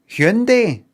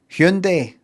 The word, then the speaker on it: Hyundai: uh No, no, it's not. That's not how they say it. Um, what what you meant to say? Hundai. Hyundai. It's in Korean.